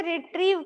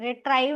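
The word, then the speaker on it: retrieve: मुझे उसे रिट्रीव करना है। रिट्राइव नहीं बी मेलेनियम डबल एल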